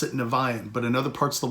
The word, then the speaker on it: Niviane: how do you pronounce the band name we pronounce it nevayan but in other parts of the world it could be nivean and there's other ways of pronouncing it so